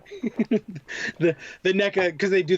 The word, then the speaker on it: NECA: I've always pronounced it McFarlane, and I always will. Yeah. And I've always pronounced it Nika, and I always will.